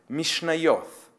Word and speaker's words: Mishnayot: yet has already learned the name mishnayot which the men pronounce with a judeo-arabic inflection as mishnayo thanks to her age